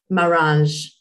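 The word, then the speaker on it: Maranges: Marange.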